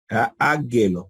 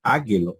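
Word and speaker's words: ἄγγελος: Ah y decían háguelos Angelo pero no es águilo es Angelo porque Gamma delante de Gamma o Gamma delante de gutural la primera gama toma sonido nasal Angelo si tuviésemos pronunciando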